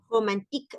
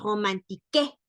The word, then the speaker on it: romantique: Romantique, no decimos romantique. ¿Por qué? Porque la E no va tildada al final. Entonces decimos romantique.